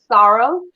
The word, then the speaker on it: sorrel: So if you see how it's spelled, we call it sorrow.